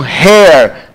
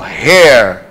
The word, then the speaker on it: hair: Air, não confundir com hair, que tem som. Ó, hair.